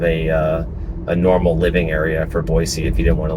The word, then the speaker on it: Boise: visit, they call it Boise. Boise, and people know you're not from here whenever you say that. So if you do come here, it's pronounced Boy, like B-O-Y, and then S-E-E, Boise.